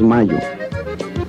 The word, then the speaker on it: Mallo: Y Laboratorios Mayo se escribe como gallo. LLO Laboratorios Mayo.